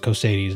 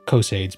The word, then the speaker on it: Cosades: Because Caius Cosades, I believe it's pronounced Cosades, not Cosades, because Imperial, Latin, whatever.